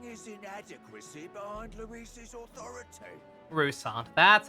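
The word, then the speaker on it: Roussainte: the rousan hiding his inadequacy behind Louis's Authority rusant that's how you pronounce that species the boy candidate isn't the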